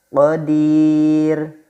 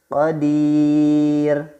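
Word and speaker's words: قدير: Dan yang kedua, qadir, qadir. Ya, roknya hidup, didahului ya sukun, dan roknya dibaca wakof.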